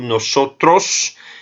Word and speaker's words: nosotros: Quando eu pronuncio nosotros, eu fecho um pouco a boca para me aproximar mais à fonética da língua espanhola.